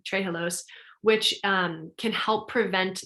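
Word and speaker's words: trehalose: well as high in trijilos sorry i mispronounced that all the time tray halos which um can help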